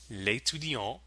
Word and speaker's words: l'étudiant: With the elided le or la, they become l'étudiant or l'étudiante.